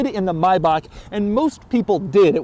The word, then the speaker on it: Maybach: One is the pronunciation, which is right here. This is the correct way to say it, Maybach. Anybody who says Maybach or Maybach, it's all wrong. Maybach is correct.